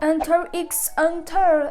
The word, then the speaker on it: Hunter x Hunter: Ouh, je ressemble encore à la meuf dans Hunter x Hunter. Et oui, je dis le X même s'il ne se prononce pas.